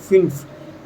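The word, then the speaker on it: fünf: German में यहां आप देख सकते हैं जर्मन में फाइव को बोला जाता है फिलफ एफ यू एन एफ क्या बोला जाता है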